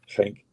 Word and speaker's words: Genk: not many days before the Genk game, should pronounce them properly, Genk, and then obviously not many days.